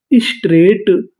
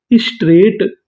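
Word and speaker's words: straight: चीज की व्याख्या करना एस टी आर स्ट्र्रा और आगे लिखा है ए आई स्ट्रे जीएसटी जीएसटी भी हमारा कोड है। अगर आपको इंग्लिश में कहीं पर जीएसटी लिखा मिले तो हम लोग जीएसटी को पढ़ते हैं ट मीनिंग क्या बनी? स्ट्रेट स्ट्रेट।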